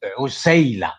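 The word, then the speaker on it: عسيلة: You pronounce the word incorrectly. Really? Okay? What is the correct pronunciation? Tell me, please. Is usayla, not asila. It is usayla.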